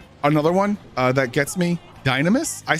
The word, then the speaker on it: Dynamis: Dynamis. They pronounce the nam on Dynamis. Dynamis, not Dynamis. I say the second way, Dynamis.